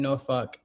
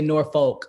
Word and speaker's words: Norfolk: climate change set in Norfolk, Virginia. And I say Norfolk, but that ain't how they say it. So, in Jersey, we say Norfolk, but it's Norfolk. So they're down there struggling